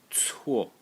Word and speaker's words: 错: And the last character in this series is again pronounced 错 as the mistake character, and the phonetic element is this one.